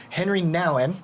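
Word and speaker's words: Henri Nouwen: if not the favorite author of all yeah henry nowin i said it right perfect there you go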